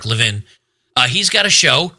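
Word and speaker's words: Levin: Well, Mark Leavvin, who or Lavine, I'm not sure. I think he pronounces it Mark Leavvin.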